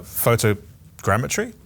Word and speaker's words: photogrammetry: that is from reality Ryan told us that photogrammetry saying it right yeah nailed it is super